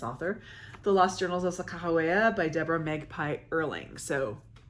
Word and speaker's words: Sacagawea: If you don't know who she was, or Sacagawea as a lot of people call her, I've been told that the correct pronunciation is Sakahawea.